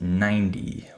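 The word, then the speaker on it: ninety: The number 90 is pronounced 90 with a D sound.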